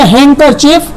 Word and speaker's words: handkerchief: EF, ये काफी बड़ा स्पेलिंग है, आप इसे जरूर लर्न कर लीजिएगा। और ये हो गया हैंकरचीफ, का मतलब होता है रुमाल।